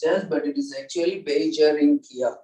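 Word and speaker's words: Beijerinckia: Beigernikia, they also pronounce it as, but it is actually Beijerinkia, correct.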